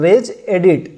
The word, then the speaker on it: regedit: और यहाँ आपको टाइप करना है रेज एडिट। आप स्पेलिंग देख लीजिए, REGEDIT।